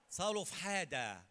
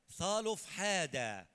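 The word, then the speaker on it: صلفحاد: الواحد امين فتقدمت بنات اطق كده معايا صالف حاده ده النطق السليم قولوها معايا صالف حاده ابن حافر اب ابن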